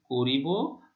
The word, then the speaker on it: করব: তাহলে এখানে করিব আর এখানে করব, ক এর উচ্চারণ মানে আদ্য অ এর উচ্চারণ ও এর মতোই হচ্ছে।